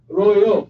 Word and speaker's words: Rojo: Or you pronounce it with a J? Rojo? Huh? Royo. Why? Royo.